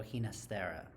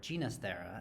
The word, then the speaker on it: Ginastera: by the Argentinian composer Alberto hasta or ginasta as he would later pronounce his own name Alberto hinero was one